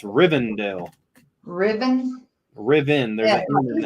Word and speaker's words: Rivendell: No, he calls it Riverdale too. It's Rivendell.